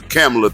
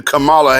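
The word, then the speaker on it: Kamala: camela thing come from y'all want to call her camela you go right on the here but we not going to play like I'm mispronouncing her name she's been Camala Harris for the last three and a half years y'all want to get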